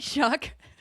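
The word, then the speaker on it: Shough: Is it Shuck? Tyler Shuck. Yes. Not spelled like it, but yes.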